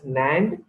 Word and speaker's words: NAND: kits nand gate and nor gate it is pronounced as nand and no so nine and nor are called